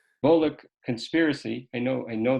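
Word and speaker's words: Volokh: How do you pronounce that name, Professor? Bulock. Bolic conspiracy.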